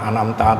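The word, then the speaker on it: أنعمت: Anam n anamta ini jadi an'amta ini adalah hukumnya ijhar khqi karena ada nun mati bertemu Ain dan ijhar syafawi karena mim mati bertemu ta nah cara membacanya cuma jelas di jelas sa jelas kemudian alaihim jadi hukumnya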